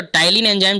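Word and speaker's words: ptyalin: पहले ने बोलते हैं बट पी साइलेंट होता है कि और टायलिन जो भी काम किस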